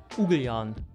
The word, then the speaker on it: Ugljan: Ugljan, or Ugljan, how the locals say, is the closest island from Zadar, and we were really surprised by the beauty of this island.